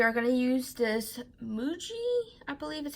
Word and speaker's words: Muji: We are going to use this Muji, I believe is how it's pronounced, black pen, and it is the .05.